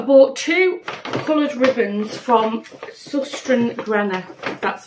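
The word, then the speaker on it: Søstrene Grene: over that I bought two colored ribbons from susten Gren that's how you pronounce it so I bought two reels there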